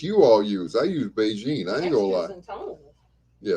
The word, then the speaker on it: Bigen: that's that's that yep beijing is what it's called it's spelled bigen bigen lt what's going zone